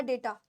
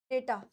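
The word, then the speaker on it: data: है बचे डाटा या डेटा डेटा य डाटा नहीं होता डेटा होता है डेटा यानी समान फॉर्मेशन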